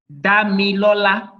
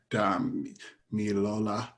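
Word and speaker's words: Damilola: Can you pronounce your name? Damlola. Damlola. Damlola. Okay. Yes. Pronounce it by syllables. Okay. Damlola.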